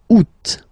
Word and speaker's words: août: The first one, you don't pronounce the final T. Ou. Second one, you pronounce it août.